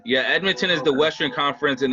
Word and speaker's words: Edmonton: edmonton uh how do you say that uh edmondson yeah yeah yeah i don't know if that if that's it let me see yeah ed edmonton yeah edmonton is the western conference and then toronto's for